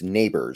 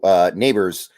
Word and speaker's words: Nabers: Like Nabers, I'm sorry, it's Nabers. Somebody told me it's pronounced like, your next door neighbor. Yeah. So Nabers.